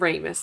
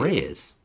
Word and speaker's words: Reyes: did that you did you said RIS iy Reyes yes it's my job to correct you Reyes Hae Reyes I'm saying it you were not saying it right there are you sure